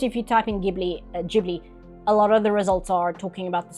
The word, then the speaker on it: Ghibli: It's probably just Gibli. Why do I have to click on a YouTube video? Can't you just tell me? Gibli is correct for Italian.